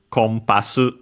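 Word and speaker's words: コンパス: And so the uh n in the middle because there's a following p becomes m compass. Compass in English the English word.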